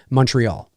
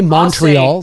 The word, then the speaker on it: Montreal: okay of course i'm when i'm pronouncing montreal i i'm probably over enunciating the words or the i would for me i would just well it depends on where you are i mean uh for me i would say montreal right or like but you can say montreal too i'll say quebec but